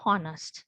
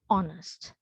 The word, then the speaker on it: honest: to words like honest here this edge should be silent but some have been practicing to pronounce it as honest but which is not correct so we have to pronounce it as honest right so likewise we